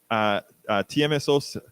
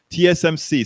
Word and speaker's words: TSMC: China stops TMSO. Oh, I better look up that. I wrote it down because I knew I was going to say it wrong. TSMC stands for the Taiwan Semiconductor Manufacturing Company.